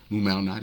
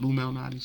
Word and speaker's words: Lou Malnati's: Lou Malnati's, is that how you say it? Lou Malnati's, yeah.